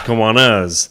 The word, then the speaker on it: Kiwanis: Not Kiwanis, Kiwanas. Because we were more emphasizing Kiwanas.